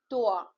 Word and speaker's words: toi: OI, I explained you, OI is oa. So the pronunciation here it will be boa, right? Like other example we have MOI, moa, TOI, toa, TROIS, throa, right?